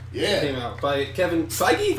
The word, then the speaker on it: Feige: Came out by Kevin Feige, right? Feige? It's Feige. Okay. Feige. It sounds like we're... I never know how to say it. It sounds like we're saying it wrong, but it's Feige.